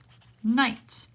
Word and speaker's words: knight: Another word, knight. A knight who rides on a horse has a silent K.